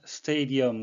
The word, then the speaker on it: stadium: 아시는 경기장 이란 뜻인데요 발음에 유의 하셔야 되겠습니다 스테 이디엄 그래서 예 봉 모음이